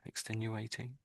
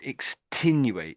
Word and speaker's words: extenuating: Yeah, I think when you get to the E. Extenuate. Hold on. Yeah. That might I think you're you're a little bit going extinate. I think you're making I'm saying 10.